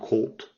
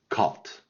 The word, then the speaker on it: caught: with catch to catch caught caught so it's not cold it's cult cut to choose chose chosen